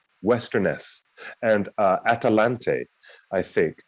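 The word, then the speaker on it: Westernesse: ones tolkien already invented western nessie also i believe that last e is silent but western nessie westerness and uh atalante i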